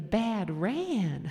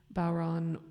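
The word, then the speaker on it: bodhrán: We all play the Bad Ran. I was like, no. We all play the Bad Ran. It is not pronounced like that. Don't pronounce it that way. But yeah, so traditionally people play Bowron with a very sort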